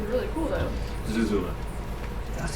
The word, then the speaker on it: Zuzula: like their last name is really cool though Zula that's how you pronounce it yeah didn't know that either dude